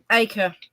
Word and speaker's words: Acre: the treasure away from how do you pronounce it? Acra or Acre. Acre.